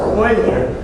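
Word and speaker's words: Euler: or it was done with the Swiss mathematician Oiler his name is pronounced Oiler and he decided to use the letter e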